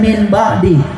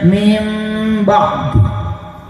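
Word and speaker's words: من بعد: Dibacanya enggak boleh nun. Dibacanya harus mim dan harus didengung dua harakat. Tidak boleh min ba'di, tapi dibacanya mim ba'di.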